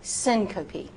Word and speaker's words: syncope: Now, syncope. Syncope, 3 syllables.